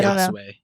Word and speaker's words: Yasuie: then it's Yasu, and help me with the pronunciation, Paravision. Once he's revealed to be the Daimyo, it is Yasuie, maybe. I say Yasuie.